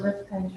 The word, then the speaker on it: Rifkind: I know that Mr. Rifkin pronounced it Rifkin, but this is Mr. Rifkind. Mr. Rifkind, good morning.